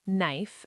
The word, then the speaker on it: knife: Number one, K before N is silent. No, knife and knee.